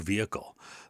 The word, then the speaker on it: vehicle: they'll say uh or vehicle they'll say vehicle so if you hear somebody say the vehicle you could say yes the vehicle was right so you drop the H because it is silent and when you say